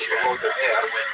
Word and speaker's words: Volodymyr: What's especially important in its history is the conversion of one of its leaders, Volodymyr, pronounced Russian Vladimir, shown here as a statue overlooking the Volodymyr made a decision basically.